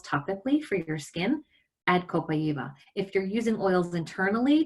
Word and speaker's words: copaiba: People in the Amazon rainforest, in the indigenous place where this is grown, pronounce it as copaiba. So I like to use the native language pronunciation as a sign of respect for them.